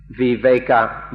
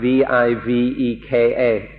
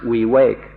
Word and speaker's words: viveka: In Pali, the word is viveka, V-I-V-E-K-A, or viveka, and in Thai it's pronounced we wake.